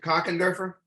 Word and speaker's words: Kochenderfer: Alan Wayne Carpenter for okay how do you pronounce it cockenderfer yes that's good yeah okay did I do okay thank you sir when is your birthday September 17 1945.